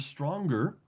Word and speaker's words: strong: And that morning in the shower she saw on the shampoo bottle the word stronger and thought about wait a second you don't pronounce that G in strong.